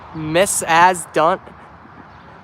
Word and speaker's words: Macedon: What to do is Macedon. It's pronounced Miss As Done.